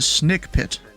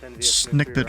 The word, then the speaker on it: Snake Pit: This one is pronounced Snake Pit. You know, Snake Pit. It's not Snick Pit or something like some people pronounce it.